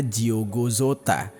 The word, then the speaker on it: Diogo Jota: Kalau dari bahasa Portugis itu ejaannya Diogo Jota. Nah, tapi karena kita pakai bahasa Indonesia, kayaknya gue ucapinnya Diogo Jota aja.